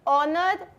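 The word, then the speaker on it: honour: ऑनर H silent.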